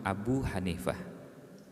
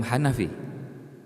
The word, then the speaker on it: Abu Hanifah: urut berdasarkan tahun wafatnya yang pertama adalah Imam Abu Hanifah mazhabnya Hanafi bukan Imam Hanafi itu cara pengucapan yang